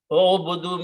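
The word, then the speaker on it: اعبدوا: If you're telling many people, all of you worship, then you add a wow and an alif, which is not pronounced, it's written only. And you put a sukoon here and make this dhamma. So, O'obudu. O'obudu means you are telling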